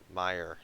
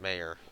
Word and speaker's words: Meyer: Forgot Meyer, not Mayor. Oops, I'm stupid. Okay, yeah. That's how you pronounce that.